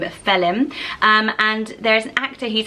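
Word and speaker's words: Faolán: name my favourite for boys and it is felon felon and so it is Fei D htlm felon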